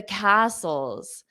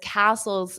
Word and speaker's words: castles: Now, instead of the food, I could ask uh how were the castles. So, how were because castles is plural. Notice that pronunciation. The t is silent.